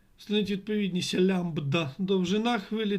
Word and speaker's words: лямбда: всі три варіанти підходять як правильно читається ця літера Омега лямбда Альфа Дельта лямбда Ось так вона читається і в мене 10